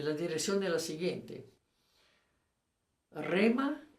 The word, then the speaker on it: Rhema: Rema se escribe R-E, viene, entre la R y la E se pone el H, entonces Rema. No olviden de poner la H, es importante, porque solo